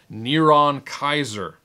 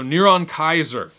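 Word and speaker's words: נרון קסר: comes to the name niron kaiser which is the hebrew pronunciation for nero caesar so niron kaiser 666 and in some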